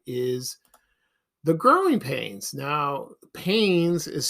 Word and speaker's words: Paynes: Now, Paynes is spelled Paynes, not Paines.